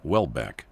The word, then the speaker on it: Houellebecq: Michel Houellebecq, pronounced Wellbeck, writes about this with a very sharp pen, as shown below.